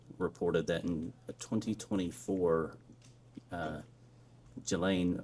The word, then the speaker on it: Ghislaine: Um As best as we know, it's been publicly reported that in 2024 uh Ghislaine Maxwell, or Ghislaine, I think it's how it's pronounced, arranged and wired $1